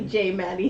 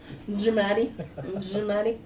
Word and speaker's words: J Maddie: It's actually J Maddie. The J is silent. J Maddie.